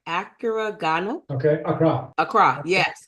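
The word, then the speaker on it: Accra: I went to let me make sure I pronounced it right acuro okay Acra Acra yes Acra beautiful city yeah yeah did you did you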